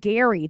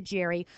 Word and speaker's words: Gerry: Named for Eldridge, it was actually Eldridge Gerry. They softened it to a soft G.